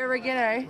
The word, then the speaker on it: oregano: Oregano. Yeah. What do you say, oregano? Oregano, that's how it's pronounced. It's oregano. It's not oregano.